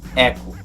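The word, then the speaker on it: Echo: coisas do gênero mas nesse caso a pronúncia correta é eco como aquele carro lá o sport sabe bom vamos para o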